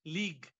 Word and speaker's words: LEAG: Yesterday, we got that new league. The new formula is called league, L-E-A-G. The pronunciation is league, not football league, but L-E-A-G.